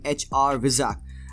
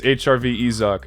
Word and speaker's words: HRVizak: very good channel on youtube by the name hr vizag am i pronouncing that right it's hrv izak you're close though okay okay thank you so